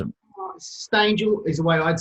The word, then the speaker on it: Stangel: Stangel is the way I'd say, but yeah, Stangel rhymes with angel, so it's nice.